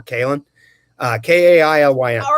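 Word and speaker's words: Kailyn: my daughter's name is kay lynn but it's not pronounced with two syllables really it's more kalin uh k-a-i-l-y-n all right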